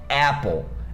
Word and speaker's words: Apple: Repara que a palavra Apple termina com E. Só que lembra que as palavras que terminam com E, a gente não pronuncia o E? Pois é como se elas terminassem com L.